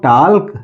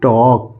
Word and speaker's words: talk: टाल्क नहीं, L silent है यहाँ पे, तो इसको पढ़ेंगे टॉक।